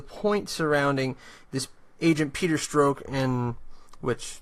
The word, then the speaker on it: Strzok: surrounding this agent Peter Strzok, and which his name is not spelled like that. I don't know why it's pronounced that way.